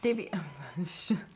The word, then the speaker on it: Daviau: me well that was our interview with Rob Davey oh and Davey that was that was correct it was close as British there's borderline on mispronunciation the one thing that I really was